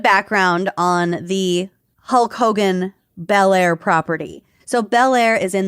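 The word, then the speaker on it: Belleair: Oh yeah, it's Bair, Florida. How embarrassing. By the way, Bair, Florida. Y'all get it together. It's spelled dumb, too. It's B E L L E A I R, but one word.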